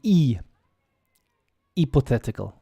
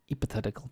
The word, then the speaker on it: hypothetical: y p hypothetical hypothetical often in Latin languages the h y will be e pathetical hypothetical but in English it's high don't believe the hype hypothetical and the th is like one two three it's not it's not spoken hypothetical hypothetical next one